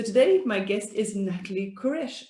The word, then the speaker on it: Queiroz: my guest is natalie koresh you know i've never asked you how i pronounced your surname is that right it's krosh but don't worry about it honestly okay i have